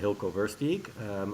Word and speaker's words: Hylko Versteeg: yeah so my name is i you well pronounced this uh hilco verse geek and i head up development for ihd hotels